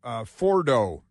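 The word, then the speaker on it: Fordow: under rock uh at Fordo Fordo which has a couple of different spellings but generally pronounced for so we'd be talking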